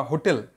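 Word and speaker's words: hotel: কিন্তু এই ক্ষেত্রে এইচের উচ্চারণ হচ্ছে হ, কীরকম, this is আ হোটেল, this is আ হোটেল, হোটেল, হ, হ উচ্চারণ হয়েছে বলে এখানে এ বসেছে, ঠিক আছে?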